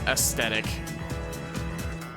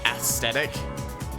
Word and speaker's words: aesthetic: I've always pronounced it as aesthetic with an extra T. Like S-T-E-T-I-C. Well, depending on how I'm, like, depending on the day, sometimes I'll say it with a TH, like aesthetic, but how about a